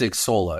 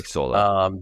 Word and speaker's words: Xsolla: So it's Xsolla. It's a hard X. Xsolla.